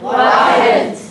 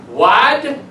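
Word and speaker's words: واحد: Wahed. What? Wahed. Wad?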